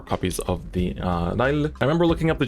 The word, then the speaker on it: Lyle: And then of course we play 4 copies of the Lyle. I remember looking up the Japanese pronunciation of her name and then I always forget. So it's not Lyle, I think it's Lail.